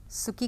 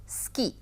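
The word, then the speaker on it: 好き: समय हम लोग केवल सुकी करेंगे और उसको जापानी में कहा जाता है स्की। सुकी नहीं कहा जाता है, बहुत ज़्यादा, बहुत हल्का सा ऊ का उच्चारण किया जाता है।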